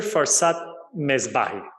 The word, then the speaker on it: Farzad Mesbahi: Farzad Mesbahi.